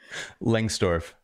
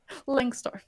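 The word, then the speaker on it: Lengstorf: Langstorf. Langstorf, sorry.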